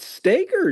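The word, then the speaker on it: Stoeger: Is it Stagger or Stogger? I always wonder. It's It's Stagger. Stoer. Stagger. Stagger. It's pronounced stagger even though it looks like it should be Stoker, but it's pronounced.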